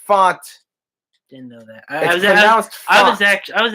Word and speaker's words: Fant: And yes, it's pronounced Font. Didn't know that. I was actually wondering how you pronounce it. Some people said Fant.